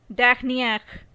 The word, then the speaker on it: dernière: In case of feminine, it is dernière.